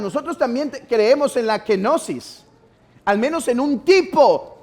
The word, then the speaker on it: kenosis: postura de la genosis se escribe como se escucha pero no lleva q sino lleva K kenosis kenosis el nombre de esta